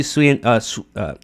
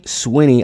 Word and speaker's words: Sweeney: So, so, so this is what Sydney Swa say her name right. Sydney Swinny.